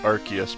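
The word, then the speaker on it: Arceus: I think in the Legends Archus or Arcus game people pronounce it different ways. I've saw videos from the the voice actor who plays Ash Ketchum and she is adamant that it is Archus, but I kind of prefer saying Arus myself.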